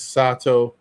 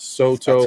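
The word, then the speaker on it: Sotto: and now i'm pronouncing i think his name is sato not soto so i'm gonna start saying sato more all right um yeah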